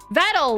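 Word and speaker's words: Vedal: Vettel, like metal. Oh, Vettel. Like metal. Okay, cool.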